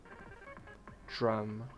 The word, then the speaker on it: drum: a lot of ESL over pronounce the d in Words with a Dr like drum in natural English drum is pronounced like like it has a g at the start drum drum what does ESL mean